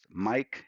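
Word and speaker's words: Maic: Yes, my name is spelled different and it sounds Mike and it spells M-A-I-C.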